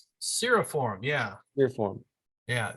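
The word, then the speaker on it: cirriform: wispy appearance are it's Siri form seriform yeah clear form yeah it's not a long e that middle uh vowel there uh JT you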